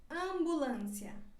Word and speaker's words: ambulância: dessa palavra homem homem e quando ela vai antes da letra p e antes da letra b ela também se pronuncia como se fosse uma ele campeão né por exemplo campeão ou angulandia ambulância agora seguimos com a letra